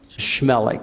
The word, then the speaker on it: Chmelik: Chmelik. Chmelik. Imagine there's an S on the front.